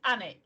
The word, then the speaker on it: Alnwick: very very so Alan Alnwick is a similar system it's anik you miss the L um and it's Annie